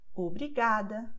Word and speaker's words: obrigada: have these endings, and therefore they will be stressed in the second to last syllable, like obrigada, tarde, obrigado.